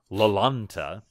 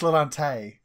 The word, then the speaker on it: Lalante: As y'all get on board the good ship Lalanta. I knew it was gonna happen at one. did I even come close to saying it right? You did, but it's Lalante.